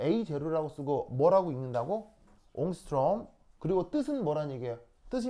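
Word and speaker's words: ångström: 이게 스웨덴어인가 뭐 그래서 발음은 이렇게 얘기해요. 옹스트롬 뭐 이렇게 읽으시면 돼요.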